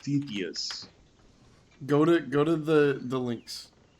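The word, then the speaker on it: Stauthis: Stathis, but it's pronounced Stethius.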